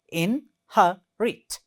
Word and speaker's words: inherit: In this word, there are 3 syllables, and the second one is stressed one. See there, inherit. So the first one, in, its first syllable, her, ha, second syllable, it, third syllable, inherit. You see there.